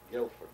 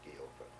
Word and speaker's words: Guilford: A letter that came to me from a girl in Connecticut, in Guilford, my brother says it's called, pronounced not Guilford, Guilford.